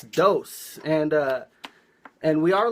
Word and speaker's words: DOES: I pronounce it dose. Uh, that's just how I read it, but you said like in different countries they pronounce it differently. True. Yeah. Yeah. Actually, it doesn't really matter to how you pronounce my name. In Spain, for example, it's dozens where I'm from, it's it's deuce. Okay. In England, they say they say does.